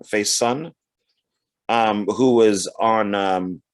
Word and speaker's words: Faison: also uh donald uh faison faison i think is how you say his name face son um who was on